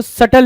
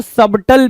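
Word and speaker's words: subtle: क्या देख रहे हो, सटल लिखा हुआ, कुछ लोग इसको सबटल भी पढ़ते हैं, ठीक है, कुछ लोग सटल पढ़ते हो। सटल actually exact you कैन say pronunciation, right.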